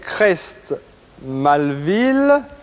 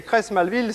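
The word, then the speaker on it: Creys-Malville: J'ai marqué un instant d'hésitation parce que Colette a inscrit Crest, C-R-E-S-T, et Crest Malville, ça ne s'écrit pas comme ça, il y a une faute d'orthographe, ça s'écrit C-R-E-Y-2-S.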